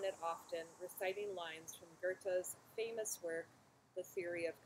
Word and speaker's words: Goethe: His name was Johann Wolfgang von Goethe, which I used to pronounce as Goethe until I met Nicholas, and he told me that the German pronunciation is actually Goethe.